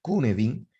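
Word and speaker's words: Cynefin: Entonces, el modelo Cunedin, ahí dice Cinefin, ¿no? Pero se pronuncia Cunedin, desarrollado por Dave Snowden, significa, ese Cunedin significa hábitat. Es un término galés.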